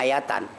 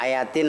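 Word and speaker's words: آيةً: Bacanya ayatan, jangan ayatin, ayatun.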